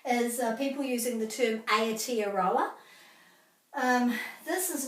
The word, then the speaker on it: Aotearoa: Ao, ao, ao, not ao, ao, te, a, ro, a. So all the A's are pronounced exactly the same in Māori, so there's quite a few of them in this word.